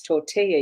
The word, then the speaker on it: tortilla: And sometimes the understanding in language, as far as, with what I had as a discussion, no, it's tortilla. You don't pronounce the double L.